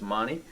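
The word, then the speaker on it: Magni: a g ni I you don't pronounce a g I guess in Italy so it's Moni uh so they have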